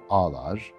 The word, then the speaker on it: ağlar: Bizim hanım ağlar, yumuşak G'yi attık, A-A-L-A-R gibi oluyor, ağlar.